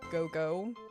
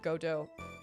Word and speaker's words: Godot: In Berserk, they pronounce Godot as go-go. Godot. Okay. Yeah, it's Godot. I know it's Godot.